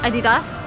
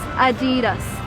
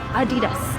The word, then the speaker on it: Adidas: and it's called adidas you probably called it I dig us or something else but the correct way to pronounce that in American is adidas adidas twenty dollars and a pair of Adidas